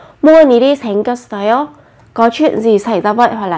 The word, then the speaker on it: 무슨 일이 생겼어요: Khi phát âm thì các bạn chú ý nối bắt chim lên nhé. 무슨 일이 생겼어요. 무슨 일이 생겼어요.